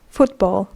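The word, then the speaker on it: fútbol: spoke for example football we have the word in Spanish football which is pronounced the same exact way but is written in the way they hear it so it's not F wo t b a WL it's f u t b o l football football uh in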